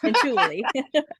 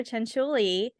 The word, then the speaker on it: Cianciulli: That's how you say it. Cianciulli. Yes. But so Bailey actually did Leonardo Cianciulli on her last murder mystery makeup Monday.